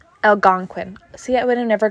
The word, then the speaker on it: Algonquin: o q u okay so here we go Algonquin Algonquin see I would have never got that and